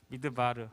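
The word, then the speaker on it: מדבר: 따라 보세 미드 발을 발음을 잘 굴려야 dwr 으 미 드 바르 미드 바르는 말하다 답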